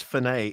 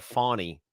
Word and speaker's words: Fani: It's Fani. It's how do they say it? Fani. It's like a fawn, like a little. Yeah, that's deer.